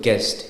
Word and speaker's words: guest: gu d g guide same thing with guest gu s the U is not pronounced it's g s guest same thing with the God